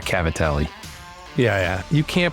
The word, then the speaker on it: Cavatelli: real real Italian cuz you said cavil not Cavatelli yeah yeah you can't